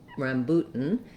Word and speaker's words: rambutan: with the stressed syllable it made me want to say a u but it's actually a boo an u sound so let's write it that way rambut rambutan i'm gonna use a stopped t here and go right into my um syllabic n so i'm gonna go up to make the t boot and then just release into the n sound again i can start